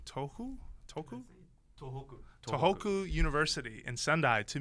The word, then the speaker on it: Tohoku: that day iada was headed to uh so it's spelled t o h o kuu toou toku tohoku tohoku University in suai to meet with Professor